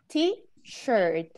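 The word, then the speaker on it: T-shirt: sell me okay so you have to say tea shirt like not okay sure not okay excellent so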